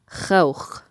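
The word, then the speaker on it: خوخ: more slanted, so khawch in some dialects. But in Fusha, in modern standard, we're going to pronounce the actual sound ow.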